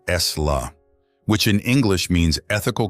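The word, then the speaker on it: sīla: This practice is called CA, pronounced S-La, which in English means ethical conduct or virtue.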